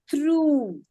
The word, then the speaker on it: through: Do I also have a long oo sound? Ooh, like through.